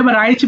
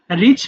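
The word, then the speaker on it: rich: রিচ মানে এটা রাইচ বল না। রিচ মানে ধনী এবং ওয়াইজ মানে জ্ঞানী।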